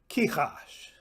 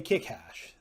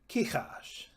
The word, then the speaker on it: Kichash: Kichash. I hope you didn't say kikhash. The KH stays together. Kichash.